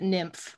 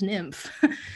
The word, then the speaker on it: NYMF: nymf they tried to they try to tell you not to pronounce it nymph but that's what we all do um yeah exactly they